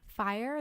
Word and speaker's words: Fyre: different reviews reviews for fire the documentary on Netflix and it's spelled f yr e and it's about that